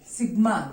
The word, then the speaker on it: sigma: Sigma, this should be pronounced as sigma, not as summation. इसको summation नहीं पढ़ेंगे, sigma पढ़ेंगे. There are 2 types of sigma.